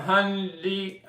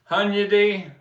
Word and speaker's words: Hunyadi: Ethan Alexander, Sania, Andy Nichols, Tom Hundy, I never say his name right, Hunyadi, Ed Sheen, Joe Mayo, and Lonnie Mayo.